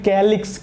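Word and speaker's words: calyx: है, दल की भी स्पेलिंग C से स्टार्ट होती है, कोरोला, तो इसमें तो C का ही उच्चारण है इसलिए इसे C लेते हैं, इसमें कैलिक्स का है इसलिए इसे K लेते हैं।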